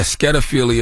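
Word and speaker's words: schediaphilia: if it's toonophilia or this word I can't pronounce s-c-h-e-d-i-a philia scadophilia yeah skedophilia is when you are attracted to cartoon characters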